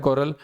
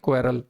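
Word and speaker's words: quarrel: इसे अक्सर बच्चे गलत प्रोनाउंस करते पाए जाते हैं, क्वेरल। That is नॉट क्वेरल, the word is कोरल।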